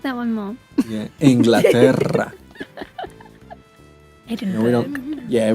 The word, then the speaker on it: Inglaterra: Yeah, we don't say England. We say Inglaterra. Yeah. Inglaterra? Yeah, I'm butchering Inglaterra. this. I'm so sorry. No, that was pretty good. That was pretty close. Like, can you roll your R's like that?